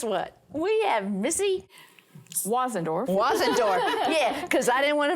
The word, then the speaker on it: Wasendorf: we have Missy wendorf wasendorf yeah cuz I didn't want to mess that up pronounced like it's spelled and and she has